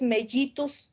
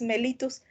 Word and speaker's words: mellitus: porque pues no sé no se dice así es la diabetes mellitus por qué pues porque los nombres están dados en latín y hay que mencionar los de la forma más correcta posible se nos puede ir